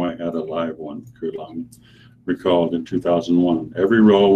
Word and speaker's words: Guillaume: The career of Robert Guillaume, pronounced with a hard G, Guillaume, almost ended in January 1909 at Walt Disney Studio.